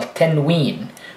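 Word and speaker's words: تنوين: And tanween, really what it means is making the N sound at the end, although there is no N.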